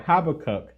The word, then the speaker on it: Habakkuk: i'm gonna be coming from the book of habakkuk that's the way you pronounce it chapter two verses two through three